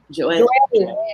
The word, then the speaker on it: Joel: It's usually pronounced in Spanish, so Joel. Joel.